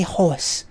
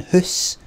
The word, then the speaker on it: hoose: I didn't say horse. I said fucking hoose. If you're gonna fucking spell it phonetically, fucking the H-O-O-S-E.